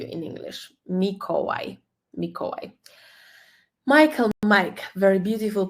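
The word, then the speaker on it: Michał: like w in English mikoi mikoi Michael Mike very beautiful polish name m m c is silent yeah because it's the letter combination so CH H equals H you just ignore the C completely in this combination and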